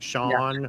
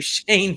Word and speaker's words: Shawn: It's pronounced Shawn. Okay. Hey, all right. Okay. So I greatly apologize. We've been calling you Shane for how long?